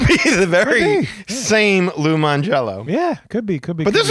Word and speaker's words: Mangiello: And this is from Lou Mangiello, spelled with a J. So not really Lou Mangiello, really.